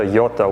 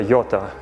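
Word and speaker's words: Jota: the eyelashes that pop up these are the yota ones that's spelled j-o-t-a bob wallace who was the test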